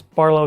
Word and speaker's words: BRLW: That's Barlow spelled with no vowels.